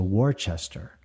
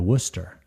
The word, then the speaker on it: Worcester: I asked for a ticket to war Chester and um the the gentleman behind the counter just he didn't even react and I said again I need to get a ticket to Worchester and he said we don't have one of those destinations uh I think you would like to go to Worcester and I looked behind